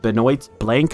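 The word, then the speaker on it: Benoit Blanc: And now it's up to Daniel Craig or Benoit blank, I believe it's pronounced, to solve this murder because he comes into town and he wants to solve it.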